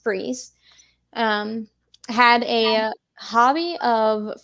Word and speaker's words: Fries: so uh Victor freeze it's spelled out as fries but it's uh pronounced freeze um had a hobby